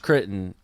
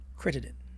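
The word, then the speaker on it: Crittenton: I mean, you might have a different opinion as we norm a lot do opposing views, but Javaris Kitten.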